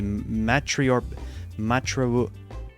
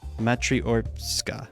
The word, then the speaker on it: matryoshka: to increase their abilities for example with the matriarch screw it okay uh google what it what how do you say it matryoshka screw it okay so for example with the